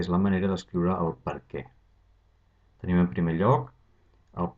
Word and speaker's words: per què: Primer de tot, fixeu-vos que sempre va amb accent obert a la E, sempre, i es pronuncia per què, amb l'accent tònic a la E.